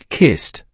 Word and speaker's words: kissed: The past tense is kissed, pronounced.